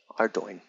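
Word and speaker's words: Ardougne: Or Ardoin. Ardoin. There you go. That's how you pronounce it according to this thing.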